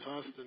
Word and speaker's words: Huston: Huston, I think I'm pronouncing his name. I think it is Huston, yeah.